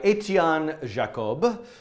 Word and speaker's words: Etienne Jacob: So I found this GIF the other day by Etienne Jacob, with my American pronunciation.